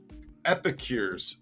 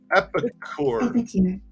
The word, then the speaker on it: epicure: read see you're laughing epicor epicure sorry i gotta get the pronunciation right that google's telling me